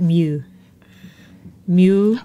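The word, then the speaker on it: Neue: you oh all right how would you smell n-e-u-e sounds a bit like Mew Mew all right well if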